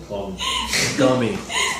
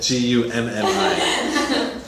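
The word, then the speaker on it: Gummy: Am I pronouncing it wrong? Gumi. Yes. That's why. I wrote it down. I should have said Gummi. I wrote it down. Gumi is the name of the city.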